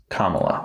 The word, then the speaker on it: Kamala: Do you want to pronounce the name again? This time try it a different way. Kamala.